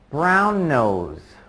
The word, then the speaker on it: brown nose: I don't stop at all there. Brown nose. You just kind of let that N sound at the end of brown hang there for a short moment.